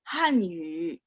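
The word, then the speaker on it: 汉语: Kayak Hanyu. Banyak yang masih baca Hanyu. Bukan yu tapi yu. Hanyu. Yu-nya mulutnya bulat. Tapi bukan yu. Kalau yu itu kan full ya.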